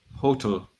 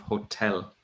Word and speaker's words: hotel: You're saying tul instead of tell. So you're saying hotel instead of hotel.